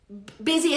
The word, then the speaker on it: busy: Busy es ocupado. Es una palabra súper rara. Busy. Busy. Se escribe con U, pero no se pronuncia con U.